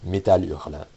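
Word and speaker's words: Métal Hurlant: This was the English designation of a magazine in Europe known as Metal Urla. And yes, this is how you're supposed to pronounce it. Metal.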